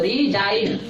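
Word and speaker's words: resign: और रिजाइन में जी साइलेंट है क्योंकि ये एन से पहले आया है।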